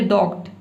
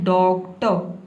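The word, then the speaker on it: doctor: आप गलत प्रोनाउंस ना करें, आप ये ना बोले डॉक्ट, डॉक्ट नहीं बोला है, आपको बोलना है डॉक्टर, इस तरह से।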